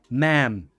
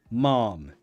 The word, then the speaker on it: ma'am: you prefer American English that is the pronunciation ma'am excuse me ma'am British English military only mom as a respectful way